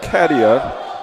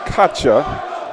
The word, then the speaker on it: Katia: It's Katia, and I've been pronouncing it Katya, but that was my Russian interpretation. And being an Eastern European here, sitting next to a Czech, you know, we're spinning things in an Eastern European way.